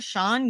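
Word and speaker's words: Xiang: so funny every time they call him sean and then they put his name on the screen and it's spelled x-i-a-n-g and i mean i guess that's how you say sean and well that's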